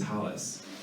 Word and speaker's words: tallis: So when we think about tallit and tallis, right? One is a much more Eastern European Ashkenazi pronunciation. It is correct. There's nothing incorrect about calling it a tallis. But one might, from a scholarship standpoint or from an American Hebrew standpoint, tallit would be the more scholarly way of saying it, right?